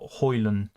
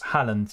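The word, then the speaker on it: Haaland: you Mohammed I appreciate that it's Portland not hoyland not it's Holland you got it right so Halland right I'm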